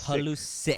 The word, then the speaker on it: Pulisic: But how do you pronounce Christian Pulisic? Is it Christian Pulisic? So it's Pulisic.